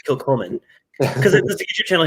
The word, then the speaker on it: Kilchoman: I don't think I've had anything from how do you pronounce it? Kilchoman? Kilchoman. I want to say Kilchoman.